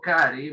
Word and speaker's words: carry: Y digo carry más allá de que hay dos R's. ¿Por qué? Porque en inglés la doble R se pronuncia como una sola R, ¿sí? Son jodidos. Entonces, sí, escribo dos, pero pronuncio una.